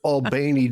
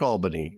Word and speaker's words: Albany: It's Albany because people don't want to be associated with New York, Albany, right? This is true. Right. Yeah, it's actually they say Albany. Oh. I think they add an extra syllable.